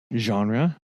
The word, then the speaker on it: genre: thought about this as well uh do you pronounce it genre or genre genre soft g okay soft g i know a